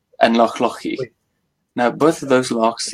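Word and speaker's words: Loch Lochy: We've talked about Loch Ock and Loch Loki. Probably butchering that. Yeah, so that's Loch Oich and Loch Lochi.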